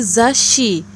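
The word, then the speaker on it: ざっし: Maka dia menjadi zashi, karena huruf tsu kecilnya merangkapkan konsonan di belakangnya, setelahnya, yaitu huruf s dari shi. Jadi zashi.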